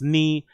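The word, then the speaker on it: 二: In Japanese, the number 2 is pronounced ni, making Tugo a direct translation from Nigo.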